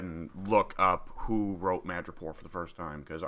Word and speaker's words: Madripoor: It's not Pore. It's Poor.